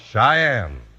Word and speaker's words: Cheyenne: c h ye n NE e and it's pronounced Cheyenne today Cheyenne's the name of a town in